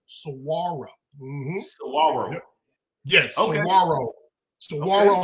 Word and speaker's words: Saguaro: When you see it, the spelling, you're gonna say saguaro, but it's the G is silent. Okay, so you warning. The G is silent, so it's saguaro.